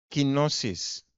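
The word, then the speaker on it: κένωσις: Hay una palabra griega que se llama o se pronuncia quinosis.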